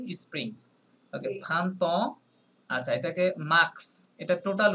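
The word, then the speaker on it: mars: ওকে খান্তন আচ্ছা এটাকে মার্কস এটা টোটাল উচ্চারণ হ্যাঁ এইটার এসটা সহ উচ্চারণ হবে এখানে কোনো সাইলেন্ট নাই মার্সে বলেন মার্কস মার্কস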